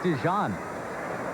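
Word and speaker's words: DeJean: has accomplished and Mike dejon gets into the ball game now for Colorado spelled D e g EA n but pronounced like the mustard dejon first one slams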